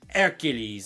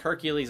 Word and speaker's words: Hercule: Hercules, or however you pronounce his name. It looks like Hercules on paper, but you don't pronounce the H.